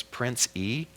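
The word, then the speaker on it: Prince Ea: His name is Prince E. Prince, and it's spelled E-A.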